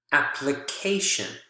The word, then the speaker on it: application: So for ION, apply, application, apply, application. So you can see no longer the syllable stress is here, it shifts over to this syllable, which is right before the suffix.